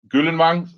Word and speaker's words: Gyldenvang: My name is Gyldenvang. Gyldenvang, that's the right way to say it in Danish.